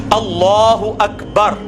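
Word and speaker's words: الله أكبر: पीछे आपने करनी है लाम को पुर पढ़ना है क्योंकि अल्लाह कलाम जो है वो पुर पढ़ा जाता है।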